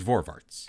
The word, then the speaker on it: Voorwaarts: And if you were to say the word forwards in a heavy Dutch accent, well, it would sound like the way the word is pronounced. And that is Voorwaarts.